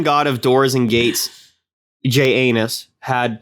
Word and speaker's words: Janus: He named the month after Janus or Janus, however you prefer to pronounce it. I like Janus. That's how I also like to do it. It's literally J and then anus.